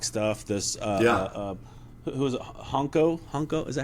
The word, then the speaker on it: Honko: Honko, is that how you say it? Laurie Honko, yep.